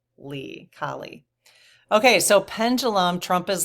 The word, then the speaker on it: Kali: Goddess Kali, Kali, but I have a pronunciation here, K-A-H, Kali.